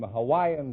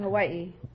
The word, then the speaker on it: Hawaii: We invited some Hawaiian dancing girls to the program tonight.